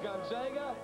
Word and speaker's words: Gonzaga: It's pronounced Gonzaga.